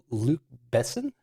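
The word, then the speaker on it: Luc Besson: from 1997 directed by how do you pronounce this guy's name is it Luke Besson yeah Luke probably Luke luck Luke Luke Luke probably makes more sense but yeah it's uh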